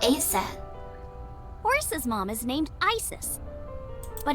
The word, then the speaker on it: Isis: horace's mom is named isis but in ancient egyptian it's pronounced closer to isa or asa oh interesting horus's mom